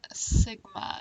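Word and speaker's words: σ: standard deviation here and this is called Sigma is how you say that symbol are some Greek symbols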